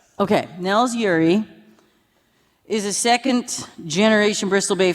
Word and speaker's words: Nels Ure: Nels, do you pronounce all the vowels in that name? The what? Yes. Okay, Nels Ure is a second-generation Bristol Bay fisherman based in Naknek in his off-season.